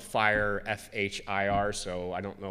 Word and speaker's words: FHIR: here is f is for fast right and it's spelled fire fhir so I don't know why all these